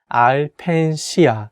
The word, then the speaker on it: Alpensia: resort is called ipenshia the correct way to say is al penshiya ai pensian you can for sure say apensia or in different way but if you want to sound like a native korean you can say ai